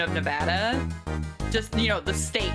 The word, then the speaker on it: Nevada: Proper pronunciation of Nevada is Nevada. It's not Nevada. It's Nevada. Say it right.